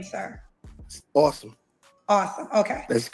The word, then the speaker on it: Awsum: My name pronounce. your name, sir? Awesome.